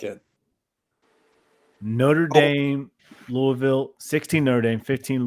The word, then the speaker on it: Notre Dame: Wait, is it Notre Dame? Yeah, that's how you say it. Notre Dame.